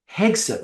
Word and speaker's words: Hegseth: Now, from what I understand, and look, I don't want to be too cynical, Hegseth, I can never pronounce his name. Hegseth, right? Hegseth, yeah, that's right, Hegseth.